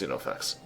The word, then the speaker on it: Xenofex: I think the name was later on retconned in that it starts with an X as well, but it's still pronounced Xenofex.